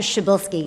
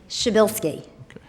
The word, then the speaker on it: Shabilsky: include, and just everybody, it's Dr. Shabilsky is how Dr. P is pronounced. Say it again? Shabilsky.